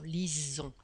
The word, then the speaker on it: lisons: il l pluriel lisent le s se prononce comme un z dans la prononciation lisons lille liz est ici